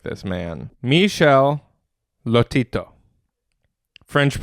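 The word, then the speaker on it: Michel Lotito: I I strive to be like this man Michelle Lotito French pronunciation French Michelle istito France June he lived from June 15 1950 to June 25th 2007.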